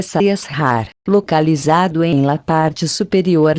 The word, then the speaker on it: Sahasrara: Centro superior, se pronuncia Sahasrara, localizado em la parte superior de la cabeça.